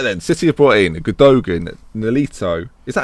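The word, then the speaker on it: Gündoğan: Right then, City have brought in Gundogan, Nolito. Is that how you say it? Gundogan? I would always say it. Gundogan. Gundogan? Either or. Yeah, because it's Turkish. And Gundogan. Sure. You don't pronounce the G.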